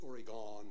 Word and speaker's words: Oregon: That's spelled O-R-E-G-U-N. You cut that down. Because you come from the East Coast, that's Oregon, and they don't never get it straight.